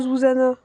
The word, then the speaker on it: Zuzana: Ah, ça se prononce vraiment Zuzana.